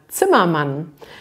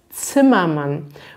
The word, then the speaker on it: Zimmermann: ist vielleicht auch besonders man hat dieses z am anfang im deutschen sprich man das z sowie ein ts aus zimmermann und man hat dann